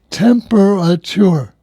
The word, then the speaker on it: temperature: It's temperature, not temperature. Oh, really? Yes, temperature. Temperature. It's a 4-syllable word.